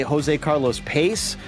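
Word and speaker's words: José Carlos Pace: That's the way I pronounce it. But I've heard people say Jose Carlos Pace. But I'm with you. To me, it seems like it should be Pache. So I'd say how you say it is right, but I've heard variations. Very fair.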